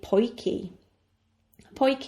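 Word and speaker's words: potjie: talk about is the poy poy which is spelled p o t j i e TJ I makes the sound key is short for poy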